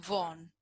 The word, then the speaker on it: Vaughan: estamos bien sí excelente mi apellido es que se pronuncia bon y estoy de acuerdo que no sé tampoco yo tampoco porque se escribe así la gente con apellido